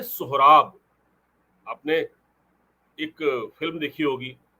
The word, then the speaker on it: सोहराब: जिसमें उन्होंने लिखा कि कुछ लोग इसको सुराब लिख रहे हैं। एस यू आर ए बी लेकिन यह सुराब नाम नहीं है इसका। इसका नाम है सोहराब।